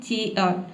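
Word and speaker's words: cheer: इसको हम बोलते हैं चीयर। ठीक है? चीयर। चीयर नहीं बोला है। यहां पे आप चाहे आर को यदि आप साइलेंट रखते हैं तो आपका प्रोनंसिएशन बिल्कुल सही होगा। 100% करेक्ट होगा। तो यहां पे आप आर को साइलेंट ही रखें।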